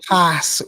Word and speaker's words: Klazz: class wrong. It's class. I know it's spelled Klazz, but it's class.